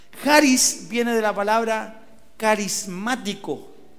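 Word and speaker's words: χάρις: que se escribe caris se pronuncia charis o jaris con j así se pronuncia jaris viene de la palabra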